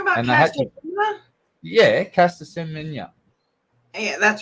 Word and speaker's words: Semenya: Yeah, Caster Semenya. Yeah, that's how you pronounce it.